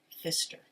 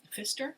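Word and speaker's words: Pfister: the name of Marcus Fister so it's p f i s t r but the p is silent English is such a weird language so it's Marcus um Fister wrote the the rainbow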